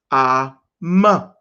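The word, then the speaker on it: אם: Genesis 2:24 still is mother, and mother is am. So we drop the A at the end, and it becomes am.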